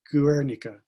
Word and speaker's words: Guernica: drawing of canarsa counter geek i'm for not pronouncing it right guernica i think is the right pronunciation but enough